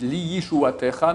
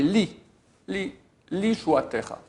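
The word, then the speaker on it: לישועתך: Ce n'est pas li avec un yud, li yishuatecha, mais li shuatecha. D'accord? Pas prononcé avec le yud, c'est un yud qui est muet.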